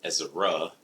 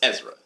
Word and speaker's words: Ezra: Most people that I know or get acquainted with sometimes for the first time, they think that it's Ezra. And it's, so they'll spell it Ezera. But it's Ezra, 2 syllables.